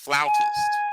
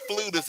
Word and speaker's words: flautist: off so by the way Bradley it is pronounced flautist a flotest yes you're a floatist it's not flutist it is actually pronounced flowers and just in